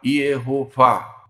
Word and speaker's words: Iehová: Os judeus pronunciam desta forma. Eles colocam um IE, o H com a vogal O, Ro e Vá, com H, Iehová.